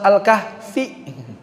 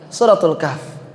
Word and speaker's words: Suratul Kahf: Jangan lagi surat Al-Kahfi. Karena bukan anak TPA. Suratul Kahf.